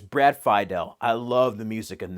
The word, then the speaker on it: Fidel: Phi del score yeah I've been pronouncing it Brad Fidel but it's Brad Fidel I love the music